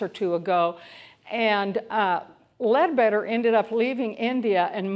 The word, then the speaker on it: Leadbeater: Or either Leadbeater, but I've always heard it pronounced Leadbeater.